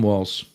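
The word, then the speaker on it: Walz: so Tim wals and I don't even know if I'm pronouncing it right you should I kind of put a t in there sort of or or like Let It kind of slur a little bit you know have one consonant blend into the other but we'll learn we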